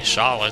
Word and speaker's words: Schala: But if you really think about names that start with S-C-H, it's like Schroeder, Schwinn, those are all pronounced like Sh. So it's like, well, you can see why it would be Schala, too.